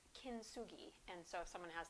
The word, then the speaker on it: kintsugi: So in Japan, they have a art technique called, and I'm sure I'm probably not pronouncing it right, but it's kintsugi.